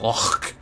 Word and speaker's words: Loch: Well, Loch is actually pronounced Loch.